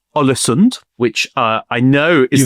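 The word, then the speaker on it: Ålesund: His family are actually big in the business of exporting dried and salted fish in a town called Olisonund, which uh I know is the correct pronunciation.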